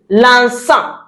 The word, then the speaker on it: l'encens: That is l'encens.